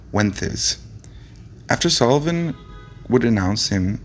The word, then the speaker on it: Wences: brief spot of ventriloquism he pronounced his name the traditional castilian way which in english sounds like wenth is after sullivan would announce